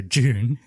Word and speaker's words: Dune: like a robot talking it's actually pronounced like like d-o-o dude yeah British is j-o-o-n so June June yeah so we'll go